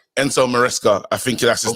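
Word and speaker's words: Maresca: Um, Enzo Mesla or something. I mean, that's how I pronounce it. But may maybe you guys can um um say it better than me. No, it's Enzo Moresca. Enzo Moresca.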